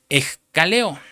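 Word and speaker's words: ἐγκαλέω: Cuando dice la palabra quién acusará, usa la palabra griega que se pronuncia escaleo y es viene en la concordancia Strong número 1458.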